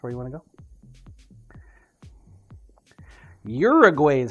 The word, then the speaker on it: Uruguay: open Uruguay that's where you want to go Uruguay is how it said fair enough fair enough